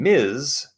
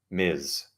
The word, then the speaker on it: Ms: an unmarried woman and Miz Ms is none of your business just female doesn't matter if I'm married unmarried it's it's nothing to do with you Miz so I would have